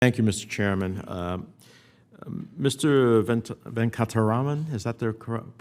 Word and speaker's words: Venkataraman: Venkataraman, is that the correct pronunciation? Sir, Venkataraman, yes, sir.